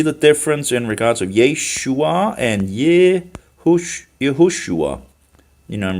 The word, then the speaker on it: Yeshua: write Yeshua because it's written as it's it's pronounced you know Yeshua Yeshua um not because you you don't you know